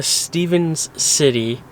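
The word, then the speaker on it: Stephens City: Finally made it to Stevens City, Virginia is the right way to say it.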